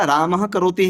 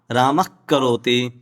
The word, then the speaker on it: रामः करोति: मतलब प्रभु जी इसका प्रोनाउंसिएशन राम करोति होगा। हां राम करोति रामच राम पचति राम पचति रामः करोति नहीं होगा सामान्य व्यक्ति है ऐसे